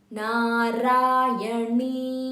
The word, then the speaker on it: Narayani: Narayani, Narayani. Na, make sure your tongue has to touch the upper portion of your mouth when you are pronouncing a na. Narayani. It's not Narayani. It's Narayani.